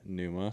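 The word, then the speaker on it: Pnuma: a hunting clothing yeah which is spelled p n u m a mhm Puma Puma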